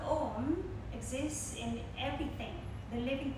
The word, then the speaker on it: Om: The Om is made of three syllables or sound, A, O, and M. Now the sound Om exists in everything, the